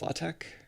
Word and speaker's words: LaTeX: about the pronunciation of latex yeah the the x is pronounced that way it's supposed to be a kai or whatever that is